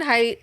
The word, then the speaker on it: Haidt: Generation by Jonathan height it's height not hate which I've been mispronouncing I don't know that